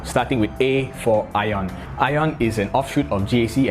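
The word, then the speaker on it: AION: with a for ION ion is an offshoot of GAC and yes it is pronounced ion so that a is there for no other reason than to come on top of the list ion is relatively new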